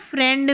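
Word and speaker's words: friend: और ये जो आई ई है ना फ्रेंड में, यहाँ पर आई ई का उच्चारण ए करके होता है, फ्रेंड, ए करके होता है, ठीक है।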